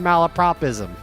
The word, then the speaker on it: malapropism: GPT, there is no T in malapropism.